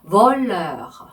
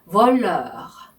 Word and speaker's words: voleur: voleur. voleur. 네, 발음 나왔죠? 네, 입술을 O 한 상태에서 에 소리를 내면 나오는 발음이에요.